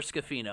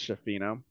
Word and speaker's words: Schifino: Freshman Jalen Hood Schifino has been or Schifino or Scafino. I'm gonna get roasted either way, probably, by how I'm pronouncing that. I'm pretty sure it's Schifino.